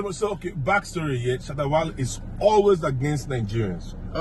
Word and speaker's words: Shatta Wale: Yeah, let me pronounce like a Ghanaian, like an African. Shatta Wale. Shatta Wale. Yes, you have to Shatta put Wale. the emphasis.